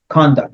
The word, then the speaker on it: conduct: first the the the the emphasis on the first one conduct your conduct but your conduct the